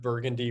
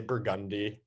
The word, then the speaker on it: Burgundy: instead of Burgundy, we say Burgundy.